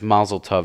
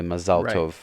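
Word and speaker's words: מזל טוב: They kind of, like, for instance, Mazel Tov is really Mazal Tov.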